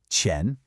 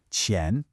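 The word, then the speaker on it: 钱: It's a second tone, so it's a rising tone. Chen.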